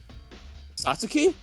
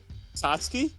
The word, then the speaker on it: Satsuki: You know you're saying your name wrong. Sasuke? Yes. It's the U is silent. Satsuki?